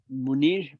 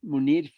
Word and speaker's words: Munir: can you say his name one more time munir munir you can find some of his stuff in